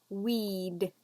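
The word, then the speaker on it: we'd: of cigarettes a day weed weed same pronunciation as a plant that grows in your garden where you don't like it a weed weed and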